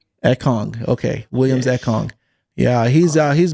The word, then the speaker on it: Ekong: How do you pronounce his last name? Ekong.